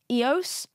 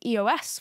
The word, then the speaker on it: EOS: So I did a panel for EOS. Do you guys know it's pronounced like that? I've been saying EOS for 12 years.